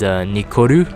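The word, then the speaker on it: ニコル: The second name here, this one highlighted, that first character is the number 2, which pronounces as ni, and so Nichol is Nikoru in Japanese.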